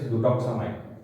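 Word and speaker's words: Butoxamine: This is the pronunciation of the drug is ब्यूटोक्सामाइन।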